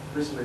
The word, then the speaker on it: Wriothesley: land to his friend and official, Thomas Wriothesley, Wriothesley is the correct pronunciation.